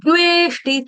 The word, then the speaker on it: द्वेष्टि: ठीक है, हल्का सा द का टच देना, न द्वेष्टि, थोड़ा दबाव आए, आना चाहिए मुंह में।